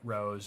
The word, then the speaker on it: RoHS: of hazardous substances directed rohs pronounced rose always do lead free